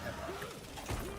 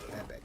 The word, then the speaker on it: epoch: ebo safe good no the British pronunciation is Epoch American pronunciation generally is Epoch epic uh return to the camp